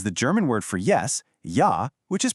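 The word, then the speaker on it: ja: The German J is pronounced just like the English Y. Always. The most famous example, of course, is the German word for yes, ya, which is pronounced ya.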